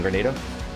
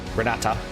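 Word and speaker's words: Granada: Right, there's our claim on Grenada. Granata. I always mispronounce it because there's that little island nation in the Caribbean called Grenada. And then you have this area over here, which is Granata.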